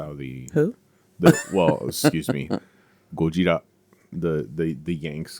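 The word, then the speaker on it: ゴジラ: The correct way to pronounce the word is gojira. That is the way the Japanese pronounce it.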